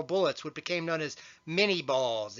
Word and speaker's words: minie: what became known as minie balls it was named after its crater and pronounced and the US as many Calvary use shorter rifles